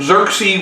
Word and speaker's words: Xerxes: again led by xerxe remember x's are pronounced like z's it is here that xerxes will take his army